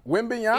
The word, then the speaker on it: Wembanyama: What's the- Wembanyama. Wembanyama. Man, Wembanyama. Yes. Does he have a nickname? I'm Victor not about to be saying Wembanyama. that all He's the big- time. Wembanyama.